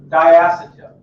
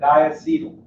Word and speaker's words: diacetyl: The one you have in front of you that you could think about tasting now is diacetyl or diacetyl, both correct pronunciations, okay?